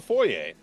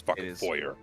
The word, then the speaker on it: foyer: your way through sander is the foyer or the foyer as some weird people call it Foy is the correct pronunciation am I right mect 100% there are people who say it's foyer I hate that so much the foyer has an